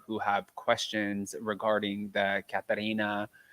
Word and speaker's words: Katharina: have questions regarding the Katarina, and I can't ever say her name the other way as Katharina. I can't say it that way anymore because I have learned appropriately how to pronounce it.